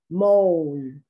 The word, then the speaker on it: mole: uh vowel between there mole in spanish you would pronounce this mole but in english of course you don't pronounce the last e pose to pose phone